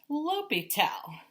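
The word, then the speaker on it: L'Hôpital: Pital apostrophe S, L'Hopital's rule, pronounced L'Hopital.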